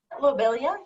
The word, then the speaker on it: lobelia: uh is it lobelia is that how you pronounce that lobelia yeah yes that that seems to be significant